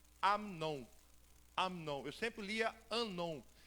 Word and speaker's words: Amnon: Eu sempre lia Anon. Só que todos os dicionários, alguns léxicos, me trouxe a tradução. Eu coloquei na voz, né, para ver no Google. E aí trouxe a pronúncia Amnon.